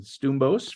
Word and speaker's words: Stoumbos: I'm excited to share a friend with you, Helen Stoumbos from Guelph, Ontario.